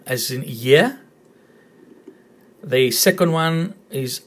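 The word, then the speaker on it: γη: Again, r as in year, and I as in fit, so ye. No need to worry about the tone here. There's only one vowel, only one syllable, ye, and it's earth.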